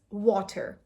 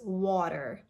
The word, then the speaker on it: water: So this is water, how you usually pronounce it, ta, right? But in American English, this is water. So it's a very soft duh sound.